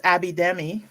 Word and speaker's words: Abidemi: And the Abidemi is simple because it's just exactly how it looks.